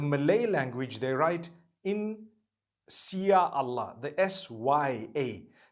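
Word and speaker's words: Insya Allah: They pronounce the S-Y the way we pronounce S-H. So they can write it how they want, for as long as when people read it, they read it INSHAALLAH.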